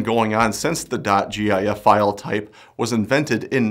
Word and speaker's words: GIF: Wilhite has said that the acronym should be pronounced with a soft G personally I'm a soft